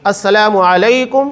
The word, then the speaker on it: السلام علیکم: لوگ غلطیاں کرتے ہیں۔ سلام جو صحیح تلفظ کے ساتھ ہے ادا کرنا چاہیے، السلام علیکم ورحمۃ اللہ وبرکاتہ۔ بہت سارے لوگ السلام علیکم، یہ روانی میں السلام علیکم، یہ جو روانی کے اندر غلطیاں کی جاتی ہے بڑی بھیانک ہوتی